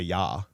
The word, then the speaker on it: ja: Which by the way in German, yes, is spelled J A but you say yah.